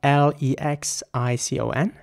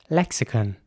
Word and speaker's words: lexicon: this would be pronounced lexicon lexicon and in American English it would be more like lexicon lexicon so again I want to you know emphasize the O at the end in British English it